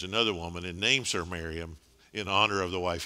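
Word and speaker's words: Mariamne: is it looks like miriam knee and some people pronounce it that way it's typically usually the end is silent and it just pronounced miriam and so she's actually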